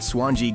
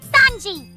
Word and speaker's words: Sanji: to cook food like that swane guy you won't shut up about it's pronounced Sanji you big bazooka Baka